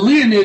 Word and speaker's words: Leonid: Leo, like the constellation Leo, Leo. And N-I-D, Leonid.